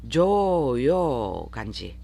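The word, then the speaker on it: 常用漢字: 조에도 장음, 요에도 장음. 그래서 조를 길게, 요를 길게, 조요 간지.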